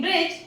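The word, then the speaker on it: bridge: Next in ब्रिज, हम इसे ब्रिज नहीं पढ़ते हैं, हम इसे ब्रिज पढ़ते हैं।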